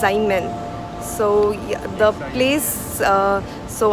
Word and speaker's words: Xiamen: And since this place is very near to the place where we were in, the Xiaomi, sorry, my apologies, it's not Xiaomi, it's Xiamen.